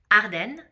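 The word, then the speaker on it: Ardennes: Uh, right, the next one is Arden. Uh, so I'll pronounce it again. Arden.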